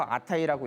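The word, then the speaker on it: 直: 그게 뭐냐면 신이라고 한자를 써서 오미라고 읽고, 연이라고 한자를 써서 무라지라고 읽고, 군이라고 한자를 써서 키미라고 읽고, 직이라고 한자를 써서 아타이라고 읽고, 조라고 한자를 써서 미야스코라고 읽고, 수라고 한자를 써서 오비토라고 읽습니다.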